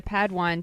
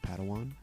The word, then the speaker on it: Padawan: Master Yoda assigned a padwan to this bold Jedi I believe it's pronounced Padawan oh padan excuse me hey it's getting late